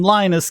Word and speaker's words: Linus: And what he said was, his name, Linus, gets pronounced different ways anywhere.